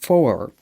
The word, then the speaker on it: phwoar: And they say it's pronounced for.